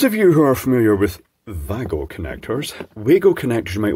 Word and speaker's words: Wago: same company those of you are familiar with Vago connectors wgo connectors you might want to call them the correct pronunciation pronunciation is Vago apparently Vagner or but you've probably come across